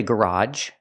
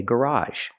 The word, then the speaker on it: garage: Some people say garage, but I say garage.